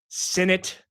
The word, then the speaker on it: Sinnett: Coming to us live from Madrid, Spain, Sinnett. Rhymes with in it to win it.